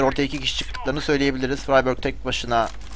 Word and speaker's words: friberg: alıp ev altına gidiyor freyberg diye okunuyor ama ben friberg diyorum her seferinde freyberg demeye uğraşamam sanırım diye tahmin ediyorum